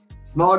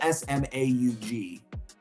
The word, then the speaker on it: Smaug: Smaug is the dragon from The Hobbit. Yes, April. So that's it's spelled. I'm gonna be that guy, and it's really annoying. It's spelled Smaug.